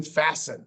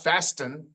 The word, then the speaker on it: fasten: Sometimes the T doesn't say anything. It's just sitting there, as in fasten, not fasten, but fasten.